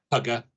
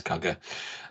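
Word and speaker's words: Kuga: Or the uh it's meant they they want you to pronounce it cougar, but it's spelled cugger, isn't it? Kugger. That's right. Yeah. Yeah. Yeah. It it is not cougar. No, it's cagger.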